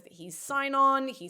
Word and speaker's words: Sinon: So everybody now thinks that he's Sinon or Sinon. Sinon is how they say it in the film, I think.